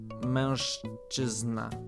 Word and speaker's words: mężczyzna: But like this would be So the Z with the dot is a zh. So mężczyzna.